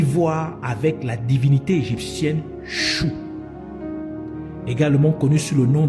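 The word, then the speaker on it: Shu: et du vent et le nom chou s su ch qui est prononcé chou comme chou comme C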